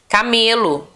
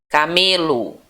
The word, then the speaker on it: camelo: curiosidade nenhum conhecimento para você olha os exemplos camelo camelo aí se você falasse aquele outra a outra